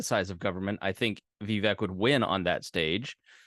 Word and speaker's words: Vivek: It's Vivek like cake.